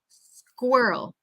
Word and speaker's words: squirrel: repeat again please squa we want kind of that uh uh that kind of back from your throat Earl Earl squirrel squirrel okay first he says girl Earl and that second syllable that Earl we really want it to come from our throw um Squirrel Girl Earl